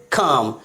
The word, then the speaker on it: calm: CALM, क्या पढ़ेंगे इसे? काम, ना कि काल्म।